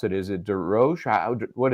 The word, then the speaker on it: Derosier: Is it D Ro? What is it? D Roer. D Roer. Okay. Or D Roa. With the Boston accent, it's D Ro.